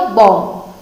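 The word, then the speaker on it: bomb: बॉम्ब, B silent रहा, कौन से वाला? बाद वाला। ऐसा नहीं है कि आप पहले वाला बी भी साइलेंट रखिए, नहीं नहीं नहीं, जो लास्ट वाला इसका बी है ये हमको साइलेंट रखना है, तो क्या बनेगा? बॉम्ब।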